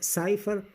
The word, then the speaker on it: cypher: एच ई R safer साइफर इसको साइफर कहेंगे वैसे तो य सिफर से है लेकिन इसको इसकी प्रोनंसिएशन साइफर है तो यह सी वाई